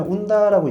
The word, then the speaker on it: ONDA: 처음에 온다라고 이야기를 들으면은 환자분들이 웃어요. 네? 온다요? 뭐가 와요? 라고 하시는데 실제로 이 장비는 국산 장비가 아니고요. 이탈리아 장비입니다. 이탈리아에서 ONDA라는 철자를 써서 우리나라에서 발음을 하면은 온다라고 돼버려요.